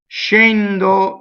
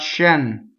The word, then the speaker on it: scendo: Scendo, scendere. This is all closed. It's not shen.